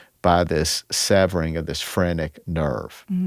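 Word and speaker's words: phrenic: uh, alleged that this frenic, and it's spelled phr. I'd never heard that phrase, frenic.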